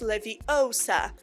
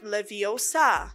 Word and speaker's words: Leviosa: someone's eye out besides you're saying it wrong it's Leviosa not Leviosa and also why spiders